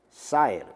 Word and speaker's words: Saher: Su apellido era Sanner o Saher, como lo queramos ver, ¿no? A veces la pronunciación de estos apellidos. Saher, ¿verdad? Como se lee, pues.